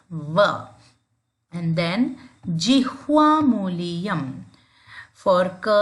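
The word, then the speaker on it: व: Don't round your lips. It's not Oshtau. We do not use W. We use the teeth and the lips. Danta Oshta. So you pronounce it like this. Va.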